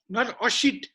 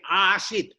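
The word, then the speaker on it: āsīt: Now question is Khaga Asit, not Asit, but long A, Asit.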